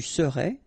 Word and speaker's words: serais: Je serais, tu serais, il serait, elle serait, nous serions, vous seriez, il serait, elle serait. Okay, so let's see how it goes. Je serais, final S not pronounced.